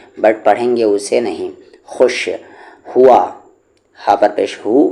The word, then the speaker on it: خوش: خو کو شام خوش، یاد رکھیں کہ خوش کی سپیلنگ خا واو شین ہوتی ہے، اور یہاں پر خوش میں ہمیشہ یہ جو واو ہوتا ہے سائلنٹ ہوتا ہے، لکھنے میں نہیں، پڑھنے میں، ٹھیک ہے۔ لکھیں گے تو واو